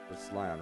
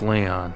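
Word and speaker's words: Lyon: Demon King if Li lion spelled with a Y lion right that's Leon oh it's Leon together we protected the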